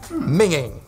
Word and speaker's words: minging: Minging. Make sure you pronounce it the right way.